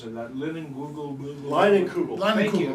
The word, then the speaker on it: Leinenkugel: They had that, I can't even pronounce it, that Google. Leinenkugel.